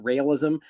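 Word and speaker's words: Raelism: It's spelled RAELIS. It's not realism, but like realism.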